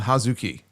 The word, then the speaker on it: Hazuki: Well, it's pronounced Hazuki.